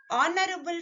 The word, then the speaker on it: honorable: Honorable family. Start with a consonant letter, but the sound is O, honorable.